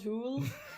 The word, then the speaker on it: Hole: Harold Hool.